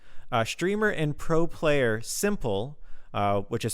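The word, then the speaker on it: s1mple: a good cause uh streamer and pro player simple uh which is spelled s one mple has donated one million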